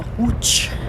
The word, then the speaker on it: Łódź: l with a cross through it and it's pronounced so hooch dad's walking awfully fast for a senior i